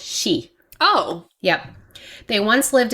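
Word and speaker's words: Sídhe: finished this which are all pronounced she oh yep they once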